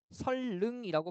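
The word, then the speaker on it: 선릉: 그다음에 얘는 발음이 설릉이라고 발음되기 때문에 이렇게 적으면 안 되고요. SEOLLEUNG 이렇게 적어야 돼요.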